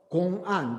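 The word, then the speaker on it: 公案: Koan is the Japanese pronunciation of Gong'an, the Chinese word. Gong means the public, the official. Gong means an means document, text, official document. Japanese pronounce that as a koan. In Korean, we usually say that Gong'an, but it's very.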